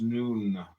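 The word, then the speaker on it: Nun: deaths comment on none none pronounced noon transcribed as and the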